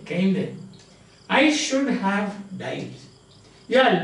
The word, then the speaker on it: kinde: And as by way of kinde, that is Middle English now, where the last E is pronounced, like aprile, kinde, I should have died.